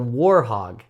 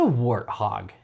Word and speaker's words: warthog: Is it wartthog or warhog? Warhog or wartthog? It's it determines on how people say it. I think I might pronounce it wrong. It is a wartthog.